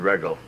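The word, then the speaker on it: Wreggel: I should know Regel is spelled W-R-E-G-G-E-L. What's that again? W-R-E. W-R-E, oh, Regel. Sure. Who knew W? That would be Regel.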